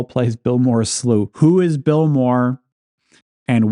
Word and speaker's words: slough: And it's spelled Slough. So is it is it Slough? Bill Moore's Slough? But actually, if you look this up, it seems like in America, if American English, they say slough, apparently, according to the internet.